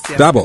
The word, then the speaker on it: Daboh: Daboh. Good morning, yes, Daboh. Emphasis on the first syllable.